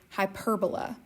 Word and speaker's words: hyperbola: that kind of silly the right way to say it is hyperbola some people call it a hyperbola but that's not right it's a hyperbola but anyway so what